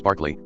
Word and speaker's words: Berkeley: Playing this back, I realized that I called him Berkeley the whole time. His name is Barkley, like Charles Barkley, but it's spelled Berkeley, like Berkeley, California.